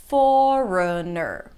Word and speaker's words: foreigner: Foreigner, okay, but most people will reduce it and round the lips for an O as in door. Foreigner, foreigner.